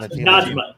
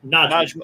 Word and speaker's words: Najma: no, it's Not Najima. Najma. It's either Najma or Najma.